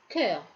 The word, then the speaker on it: cœur: Dans ce mot, le « che » se prononce « que ». On prononce « cœur ».